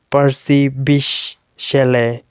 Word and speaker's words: Percy Bysshe Shelley: pb chalet and in full form you can pronounce it as percy bish shelley right so pb shall a simple words you